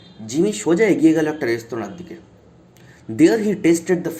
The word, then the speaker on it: restaurant: ঠিক আছে, আমরা যে রেস্টুরেন্ট বলি ওটা কিন্তু প্রনাউন্সিয়েশন নয়, এটা একটা ফ্রেঞ্চ ওয়ার্ড, এটা একটা ফরাসি শব্দ রেস্তোরাঁ।